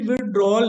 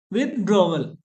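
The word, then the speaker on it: withdrawal: और इसकी प्रोनाउंसिएशन भी विड्रॉल नहीं है, विड्रॉवल, विदड्रॉवल।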